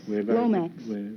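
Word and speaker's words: Lomax: Oh, is that the correct pronunciation? Yes, Lomex. Lomex, huh?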